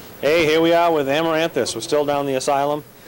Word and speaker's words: Amaranthus: hard time even well we we pronounce it amaranthus but um basically what amaranthus